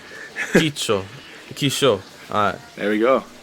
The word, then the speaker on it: Quicho: I don't want to butcher your name, but it's Quicho, see? It's Quicho? Quicho. Works the Quicho. same way. The way you pronounce it is a key, like a key, and Ki- then cho. Quicho.